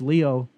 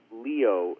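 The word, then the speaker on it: lío: get these jokes but mucho Leo if it's spelled l IO in Spanish means a big mess L IO is like kind of a mess and my name is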